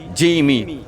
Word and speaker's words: XGIMI: don't pronounce the X. Ok. The Jimmy.